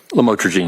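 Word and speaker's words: lamotrigine: about the u the lamel otherwise known as lamatraene. Did I pronounce that right? Lamotraine.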